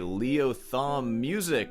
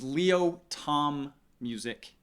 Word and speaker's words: Leo Tom Music: One of which is going to be Leo Thumb Music with 818 subscribers. My man, you claim to be my former teacher. You can't even say my name right. It's Leo Tom Music.